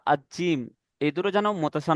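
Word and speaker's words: ج: দেখেন এই জা আর জিম, এই দুটো যেন মতসা না লাগে, ঠিক আছে। জিমটা হবে জিভের মাঝখান এবং মাড়ির মাঝখান দিয়ে উচ্চারিত হবে।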